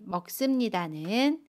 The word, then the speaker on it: 먹습니다: 동사 먹다에 씁니다를 붙인 먹습니다는 먹습니다 라고 발음해요. 받침 기억은 그대로 발음하고요. 습은 씀으로 발음합니다.